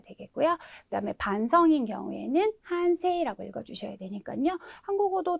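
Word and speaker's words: 反省: 그다음에 반성인 경우에는 한세라고 읽어주셔야 되니까요. 한국어도 두 가지 발음이 있고 일본어에도 각각 다르게 발음을 하셔야 되기 때문에요.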